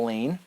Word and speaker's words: Elaine: scared I can handle Elaine rhymes with pain if you don't say